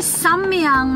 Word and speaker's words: Samyang: It's samyang kong?